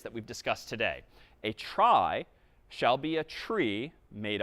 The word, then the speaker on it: trie: Well, let me propose that we try to get there, no pun intended, though I guess kind of intended, with tries, short for retrieval. Even though retrieval isn't pronounced retrival, a try is another type of tree,